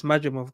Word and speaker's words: Madrimov: I mean, I did watch how you pronounce brother's name? Mac, I just don't be wanting Majimov. to Madrimov.